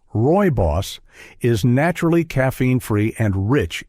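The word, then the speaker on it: rooibos: Roy Boss, pronounced Roy Boss, is naturally caffeine-free and rich in minerals that seniors need, including calcium, iron, and zinc.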